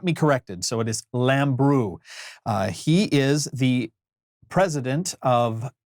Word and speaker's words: Lambrou: I've mispronounced it Lambrou in the past, but I asked him about it at the San Francisco show in 2017, and he got me corrected. So it is Lambrou.